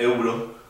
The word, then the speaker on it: Euro: La palabra euro, por ejemplo, la moneda de Europa, el euro, se pronuncia euro.